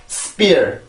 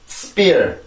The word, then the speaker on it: spear: S 발음은 음절로 올라가기 위한 준비 동작이 필요한 것도 아니고 S 발음 그냥 순수하게 S 발음만 해주면 되는데 길게 나가지 않고 아주 짧게 발음을 하고 그 다음에는 P 발음으로 넘어가 주게 돼요. 그러면 이런 소리가 납니다.